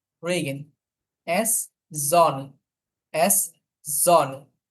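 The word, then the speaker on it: Sonne: pay Papiya উইস কুইস এফ রেগেন রেগেন এস জনে এস জনে বেশিরভাগ ক্ষেত্রে হচ্ছে জার্মান ল্যাঙ্গুয়েজে যদি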